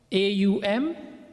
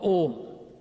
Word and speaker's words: Om: It is either Aum or Om. Right? We'll talk about that briefly. So in Sanskrit it's spelled A-U-Ma, then it's broken down to O and Ma, Om. So if you say it's O-M, you're not wrong.